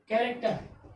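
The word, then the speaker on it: character: तो एच क्या अपना? साइलेंट होगा। तो कैरेक्टर यानी CARACTER, CARACTER, कैरेक्टर।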